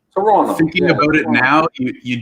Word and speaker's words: Toronto: I hear Toronto, you're not supposed to pronounce the last T. It's supposed to be Toronto.